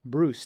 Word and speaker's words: Brus: Hi and welcome to another edition of the Trust Cast Show and I'm really happy to have with me today Caleb Bruce. Did I pronounce the last name correctly, Caleb?